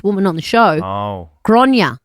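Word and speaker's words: Gráinne: Grain.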